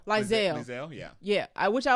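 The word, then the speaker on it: Liesl: Lizelle, yeah. Yeah, which I like her name because it's spelled kind of interestingly.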